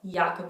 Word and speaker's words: Jacopo: I would have said Jacopo or yochabel even if we know it's a young sound we would say Jacopo Yaakov oh that would be more natural to us you want to say